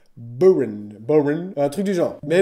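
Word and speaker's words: bodhrán: Alors, déjà avant de commencer, il est à savoir que ça se prononce pas Bodhran, ça se prononce Boran. Boran, un truc du genre.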